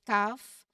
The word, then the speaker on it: calf: Now, L is silent before an F. Look at half and calf. Again, the L is not pronounced, so it's half and calf. You go right from the vowel sound to the F sound.